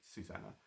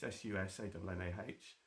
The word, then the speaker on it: Susanna: Um, so don't worry about it, but it is Yeah, you did spell it wrong, but it is Susanna. But that's fine. It's sus ah.